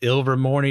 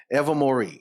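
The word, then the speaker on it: Ilvermorny: ever ever ever Mory ever Mory is it's spell weird but it's it's it's it that's how it's pronounced I listen to guy on YouTube five times to make sure I got it it's ever more see see normally I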